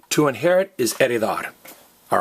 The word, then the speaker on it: heredar: So this H is silent. It's heredar, not heredar, and it's herencia, not herencia.